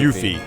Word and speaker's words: Yuffie: name is that the developers anglicized the name by adding a second F and an E to the spelling of her original Japanese given name Yuffie, which is just Y-U-F-I. Well, that's why the pronunciation So is it's Yuffie.